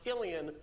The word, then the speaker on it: Cillian: It's pronounced Killian when he does drama. When he does comedy, it's Cillian. Actually, I take that back.